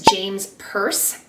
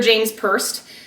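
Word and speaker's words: James Perse: Next brand is James Purse.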